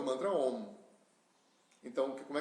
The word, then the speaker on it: Om: Não é Aum. Aum é como se escreve, né? Não existe Aum no mundo oriental. A contração do A com U dá o O, né? O pessoal esotérico é que criou o Aum. Então, Om tem a fase O e